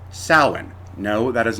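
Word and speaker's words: Samhain: Spain uh and they celebrated a holiday called Salin no that is not pronounced Sam Hayne the Celtic languages did not have a written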